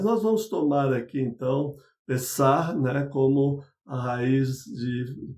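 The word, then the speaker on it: פסח: Páscoa, acho que você já sabe, em hebraico se pronuncia Pessah, e significa passagem, mas não é o único significado da palavra Páscoa.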